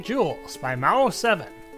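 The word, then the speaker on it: Gewels: Jewels is spelled with a G. G-E-W-E-L-S. Jewels.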